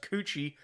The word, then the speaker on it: Kookie: school with the chick whose last name was Kookie pronounced coochie oh really and they owned an Italian restaurant